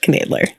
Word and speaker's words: Knoedler: I'm like thinking about it canler but it's pronounced canler okay okay all right we're back with Dr